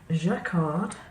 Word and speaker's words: Jacquard: I have some Jacquard, I presume you pronounce it with a soft J, Lumiere paints.